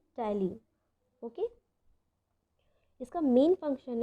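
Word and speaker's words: ptyalin: Please keep that in mind कि ये जो पी है वो साइलेंट रहेगा और इसके प्रोनाउंसिएशन को हम क्या कहेंगे, टाइलिन.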